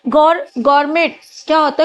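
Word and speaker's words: gourmet: गौर गर्मेट क्या होता है? गौरमे बोलते हैं। इसको में ना टी साइलेंट होता है गौर में।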